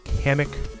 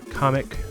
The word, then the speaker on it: Kamek: It's Kamek Nintendo, not Comic.